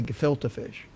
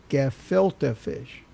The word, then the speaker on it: gefilte fish: the end credits and Chris Tucker was trying to say good filter fish if you remember that you have any and he and he couldn't say it he couldn't say it right he'd say good go go for fish and then and then the prompter would go gefilte fish and he do it